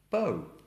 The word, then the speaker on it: bow: Now this word, spelt, has two different pronunciations with two different meanings. You have bow and then you have bow.